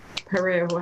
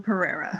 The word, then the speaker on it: Pereira: board of registrars on jackie brusso perry however you say her name becky brusso pereira right okay there you go